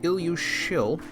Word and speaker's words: Ilyusshil: So double S is an SH sound, just for future reference. So this one's called Ilyusshil.